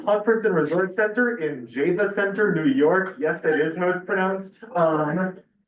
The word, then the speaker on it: Java Center: We all went up to Beaver Hollow, a conference and resort center in Java Center, New York. Yes, that is how it's pronounced.